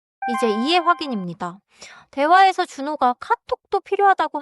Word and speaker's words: 카톡: 카톡 아이디에서 카톡은 받침 기억 소리가 뒤에 살짝 닫혀요. 너무 길게 카톡크처럼 늘리지 마세요. 카톡 아이디 알려 주세요. 톡 카톡 아이디 알려 주세요.